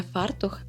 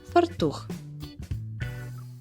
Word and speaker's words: фартух: чи кроїти фартух правильно казати не фартух а фартух де допущена помилка у